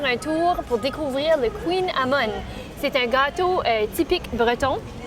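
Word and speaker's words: Kouign-amann: Est-ce que je le prononce comme il faut? très bien. OK. Merci. Queen Amon.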